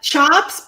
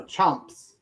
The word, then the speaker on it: Chomps: Chops beef sticks? No, Chomps.